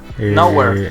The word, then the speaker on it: Newarre: Por ejemplo, la ciudad donde tiene su taberna se llama Newarre. Tal cual se escribe Newarre. N-E-W-A-R-R-E. Neguarros. Newarre. Pero, por ejemplo, lo divertido es que cómo se pronuncia eso en inglés. Nowhere.